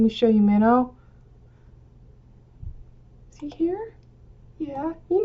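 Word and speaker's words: Mino: This is Minnow. It sounds like the fish.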